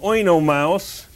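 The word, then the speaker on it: Oenomaus: lot over the you does not mean that he is a heavy metal band it means that there to be pronounced separately his name in ancient Greek means wine bag king I know mouse and his wife mrs.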